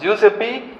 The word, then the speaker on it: Giuseppe: how you pronounce that giu ACP how you pronounce that juice FB right Giuseppe Mercury I know discovered this Mercury skin that's